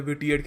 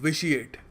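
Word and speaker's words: vitiated: very important word और इसको pronounce करने का तरीका भी याद रखना कुछ लोग पता नहीं क्या कुछ और बोल देते विटीएट कह देते हैं इसको इट्स प्रोनाउंसड विशिएटिड रफ एक डियम है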